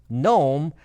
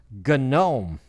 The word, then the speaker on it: GNOME: And yes, it is not pronounced GNOME like entire Myers GNOME. It is pronounced, strangely enough, it's pronounced GNOME.